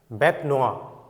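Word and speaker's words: bête noire: of the court next bet noa ইয়াৰ pronunciationটো নয়েৰ নহয় ইয়াৰ pronunciationটো হল ইয়াৰ noa bet noa ইয়াৰ লিটাৰেল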